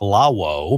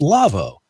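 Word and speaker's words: Lawo: the the spelling love it's la wo like la whoa but it's pronounced Lavo la wo dot-com / twerked so when you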